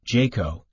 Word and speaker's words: JCAHO: accreditation of hospital organizations also referred to as JCAHO pronounced Jayco and the National Committee